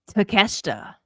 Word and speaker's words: Takeshita: How do you pronounce it, Karen? Takeshita.